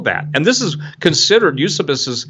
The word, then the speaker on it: Eusebius: and this is considered use abysus and some people pronounce Eusebius but use abyss is